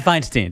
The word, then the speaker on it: Feinstein: John Feinstein.